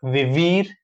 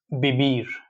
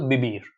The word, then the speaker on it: vivir: Here also, we have to pay attention close attention to pronunciation because it's not vivir, it's vivir. Like in like soft B sound. So vivir.